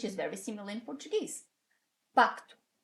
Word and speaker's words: pacto: Pacto, P-A-C-T-O. So, pacto. As you can see, you pronounce that C. It's not a mute. It's not mute, you pronounce it. It's pacto, and you say it.